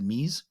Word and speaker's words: Mise: It's spelled Mise, but you pronounce it Mise. It's Mise. So it's Mise, short for mise en place.